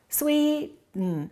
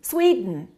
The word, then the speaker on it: Sweden: Two syllables. Which one is stressed? The first one. Okay. What happens to the second one? Sweden. Sweden. Sweden. So don't say I am from Sweden. Say I'm from Sweden.